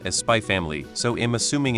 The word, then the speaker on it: Spy x Family: is also pronounced as spy family so am assuming in Japanese media naming the x is silent I variously heard read